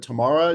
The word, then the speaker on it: Tamara: Tamara is pronounced not Tamara, but Tamara de Lempicka.